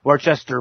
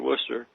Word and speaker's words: Worcester: say it wrong but worchester polytechnic what how is it as if there is no r in there worcester oh okay polytechnic institute